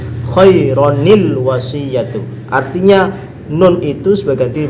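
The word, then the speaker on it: خَيْرًا الْوَصِيَّةُ: Maka ketika nyambung ke al-wasiyatu maka tidak bisa masuk ini khairal wasiyatu. Nanti kalau khairal maka tidak apa namanya? Di sini bukan tanwin nantinya. Khairal wasiyatu kalau bacanya seperti itu. Bagaimana cara menyeberangi khaira ke al-wasiyatu? Maka di sini ada hamzah wasal. Ketika baca harus disebabkan ada nun wiqayah. Artinya apa? Sebagai pengganti daripada tanwin khaironil wasiyatu.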